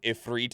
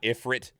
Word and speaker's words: Ifrit: last handful of years that it is pronounced ifreet and not Ifrit does it light up